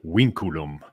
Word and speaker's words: vinculum: it oliver it's well i call it vinculum but if it were in proper old latin the v's are like w's so they call it winkurum but now yeah vinculum vinculum very good then